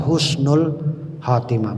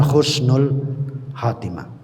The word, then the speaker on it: Husnul Khatimah: karena kebiasaan orang Jawa jadi ha dibaca alkamdu mestinya alhamdu bacanya Al hamdu yang betul adalah alhamdu ya Jadi yang mohon maaf kalau ada penulisan salah yang betul adalah Husnul Khatimah Bukan Khusnul Khatimah kemudian yang ketiga apa